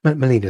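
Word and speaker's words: Melena: a what was your name Molina but sorry Molina is my name can you spell that Jim please just m-e-l-e-n-a Molina thank you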